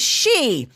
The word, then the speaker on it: Xi: Never mind that the letters XI is pronounced chi, and the name Xi spoken as she.